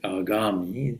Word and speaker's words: agami: And the other kind of karma, this you can say agami, pronounced like that, is future karma.